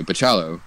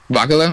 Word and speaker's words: Bachalo: Bakula? Okay, I always pronounce it with the hard CH.